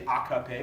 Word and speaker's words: AKP: by its Turkish acronym the AKP sometimes I'll say a copy because I've studied Turkish and I know how to pronounce it the Justice and Development